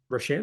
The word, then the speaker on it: Rocher: Rocher, there you Or go. Like Frere Rocher. Rocher, like Yeah, that's the it. That's the chocolate. There means. you Do you know what Rocher means?